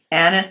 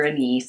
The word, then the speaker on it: anise: of protection historically star a anise or a knee it's pronounced both ways was buried in incense